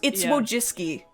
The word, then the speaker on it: Wojcicki: Yeah, Susan Wojcicki, I believe is how you pronounce her. It's Wojcicki. It's Polish or whatever.